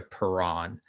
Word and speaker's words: Perron: my own name so i kind of anglicized it uh back to perron um just for for simplicity so you're good with okay but someone out